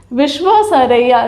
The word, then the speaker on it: विश्वेश्वरैया: आप बोल लेते हैं कि नहीं, विश्वेश्वरैया, विश्वेश्वरैया। ठीक है, तो ये नाम बहुत अच्छे से याद रखिए, सही से प्रोनाउंस करिए इसको।